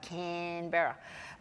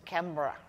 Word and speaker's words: Canberra: Canberra, the national capital, is the white fellows spell it like Canberra. But the proper Ngunnawal word for it is Canberra.